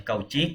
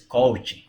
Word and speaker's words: Cauchy: Así como no es Cauchy, es Cauchy, ¿sí?